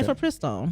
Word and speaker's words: mifepristone: You actually know how to pronounce that? Yes, okay. Mifepristone.